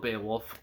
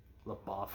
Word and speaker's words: LaBeouf: Um, I say his name weird. I always have, and I probably always will. I most people pronounce it as LaBeouf or whatever.